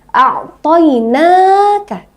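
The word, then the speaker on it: أعطيناك: Namun yang huruf na ini itu ada fathah bertemu dengan alif, ya. Nah, jadi bacanya harus dipanjangkan. Berapa lama panjangnya, Kak? Panjangnya hanya 2 harokat atau 1 alif. Nah, 2 harokat ya, seperti ini. A'toina, 2 ketukan ya. A'toina, ya. A'toinaka. Jangan panjang-panjang ya.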